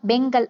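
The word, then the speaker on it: Fengal: இந்த பெஞ்சல் அப்படின்றத இங்கிலீஷ்ல நாம பெங்கல் அப்படின்னு ப்ரொனவுன்ஸ் பண்ணலாமாங்க.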